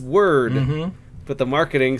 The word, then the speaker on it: Wyrd: Web of Weird. Word. It's word.